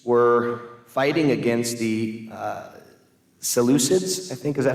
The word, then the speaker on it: Seleucids: and The Maccabees were fighting against the uh seleucids I think is that how you say it